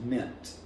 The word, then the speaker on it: mint: after the letter N the T tends to disappear so it ends up